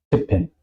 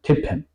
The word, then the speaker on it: tippen: Al contrario, tippen, mit. ¿Ok? Tippen, teclar. Eso queda claro porque tenemos un doble consonante.